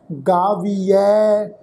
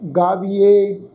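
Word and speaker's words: ਗਾਵੀਐ: फिर एक काम होर करो जी, सुनीऐ गावीऐ सुनीऐ, ऐड़े अखर के उपर दुलावां की मात्रा, मन रखीऐ भाओ। ये जोड़े तीन वर्ड है ना जी, गावीऐ सुनीऐ मन रखीऐ, इनू गावीए सुनीए रखीए इस ढंग नाल प्रनाउंस नहीं करना।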